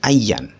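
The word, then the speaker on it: أيًّا: Kemudian ayun ya, ayun ini sebenarnya harus didofahkan kalau dalam isim itu. Makanya kalau ketika dalam fi'il dia jadi ayyan, seperti itu. Dibacanya ayyan. Ayyan tadrib adrib.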